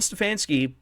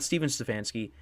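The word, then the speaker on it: Stefanski: and um yeah so Kevin stefansky not stepen stefansky ended up winning uh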